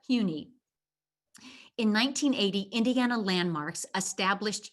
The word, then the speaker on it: HUNI: you pronounce the name it's not huni and it's not honey but hue like the color and knee like the body part huni in 1980 indiana landmarks